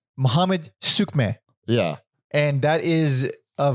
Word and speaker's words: Muhammed Suiçmez: So there was a cut because I had to look up how to pronounce the fucking guy's name. It's Muhammed Suiçmez.